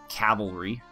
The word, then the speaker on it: cavalry: we have a heavy calvary compare them to sorry cavalry it bugs me and people say it wrong and i just did